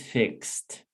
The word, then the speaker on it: fixed: examples here fix fix what is the last sound of the original verb quality fix so it's not fixer a teacher you know yesterday i had my tv broken and i fixed it very well no that's horrible accent is fixed guess guess guest repeat